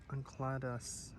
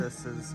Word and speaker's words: Enceladus: Grove, and that's the wrong basically what it pronunciation. depicts is the grove showing the Titan Uncladus. How do you mess it up? That's a different pronunciation every single time. Oh my god. This grove. I'm cringing. Enceladus's Grove, or Enceladus Grove, and okay, there you